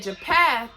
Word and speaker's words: Japheth: And we know that Japheth, that's how you pronounce it, him and his kids, it said that they were the owl of the Gentiles.